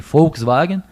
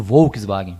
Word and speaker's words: Volkswagen: Aqui no Brasil a gente dizia antigamente Volkswagen, que é o certo, e hoje em dia se diz muito Volkswagen, mas o V na verdade tem o som de F.